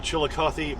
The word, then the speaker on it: Chillicothe: then there's a chillicoth where you don't say the e as far as i